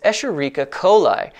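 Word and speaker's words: Escherichia coli: bioethanol a popular bacterium for this process is esherica coli yes that is how it is pronounced e coli is easy to engineer prolific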